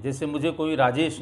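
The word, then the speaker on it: Rajesh: वहाँ पर जे को ये कहते हैं, जैसे मुझे कोई राजेश नहीं कहता था, वहाँ मुझे रायेश कहते थे। जे को य में प्रोनाउंशिएट करते हैं।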